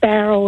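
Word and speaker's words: Bowral: to um norma in bow roll australia where's that where's that norma it's about 90 kilometers from sydney and it's pronounced barrel is in barrel no i don't think so yes it is yes yes it is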